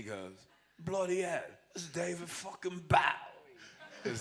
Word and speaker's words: Bowie: this David bow cuz that's how you guys used to pronounce his name it was Bowie in the old days he only changed it to Bowie later since we got so Americanized but he was David Boi and and Billy barfed